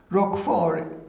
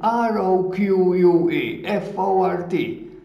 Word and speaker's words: Roquefort: Roquefort is written R-O-Q-U-E, F-O-R-T, Roquefort.